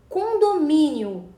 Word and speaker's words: condomínio: Condomínio é uma paroxítona, porque tem a penúltima sílaba tônica, que é o mi. Né? Perceba que termina em ditongo, I-O. Não se separa o I do O, tá? É condomínio, tá?